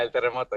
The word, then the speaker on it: El Terremoto: Is that how I pronounce it? Yeah, El Terremoto.